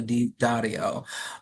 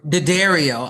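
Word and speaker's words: D'Addario: You have to read The Talent by Di Dario, or Daddario. I'm That's trying to right. make it Italian. I'm trying to add all Yeah, that yeah, cachet. it was a beautiful pronunciation. It's not my pronunciation, but I was transported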